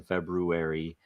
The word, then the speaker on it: February: only four weeks in February um and it make sure you pronounce with the r February there are two RS anybody know anything about